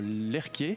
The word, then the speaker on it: Lerche: Alors, l'animé est produit, pour rappel, par le studio Lerke, donc ça s'écrit Lerche, mais il faut prononcer Lerke comme Jean-Michel.